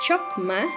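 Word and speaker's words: חכמה: Y la palabra nos dice que viene del hebreo, que se pronuncia chokma, y del griego, que se pronuncia sofia.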